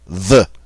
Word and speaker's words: veut: Almost the same, except it's going to end with a T, but it's pronounced the same way as the other singulars. Il veut.